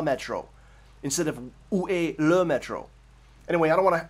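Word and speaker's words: le métro: I said, I know it's Le Metro now, but I said La Metro. Why couldn't she understand La Metro?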